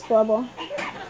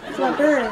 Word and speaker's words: Flubber: Yeah, it is Flubble. Flubber. I didn't say it right.